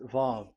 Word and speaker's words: vav: So it's V as in Vogue. So it's really V. How to read Vogue? So the word, the shape Vav is really pronounced V, like Vogue. That is it, pronunciation. So here in this side, it's pronunciation. This is pronunciation. So according to the old Hebrew word today, those who, the owner of the words, I mean, so it's a V. So don't change it into W, and you will say